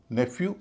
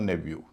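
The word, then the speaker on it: nephew: न्यू एन ई पी एच ई डब्ल्यू। इसके दो उच्चारण होते हैं नेफ्यू और नेब्यू लेकिन क्योंकि फ और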